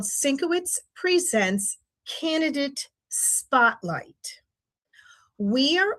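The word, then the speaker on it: Syncowicz: We have our program Syncowitz, which is spelled phonetically, SYNC-O-WICZ.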